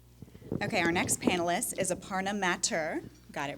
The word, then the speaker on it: Aparna Mathur: Okay, our next panelist is Aparna Mathur. Got it right? Yeah, absolutely. I'm big on pronunciations, being in television.